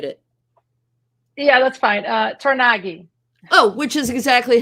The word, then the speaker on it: Tornaghi: want to mutilate it yeah that's fine uh tagi oh which is exactly how I would have pronounce it all right tagi I just want to make sure all these